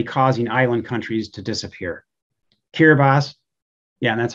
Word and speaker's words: Kiribati: seas are already causing island countries to disappear kiribati yeah that's how you pronounce that kiribati consists of 33 islands all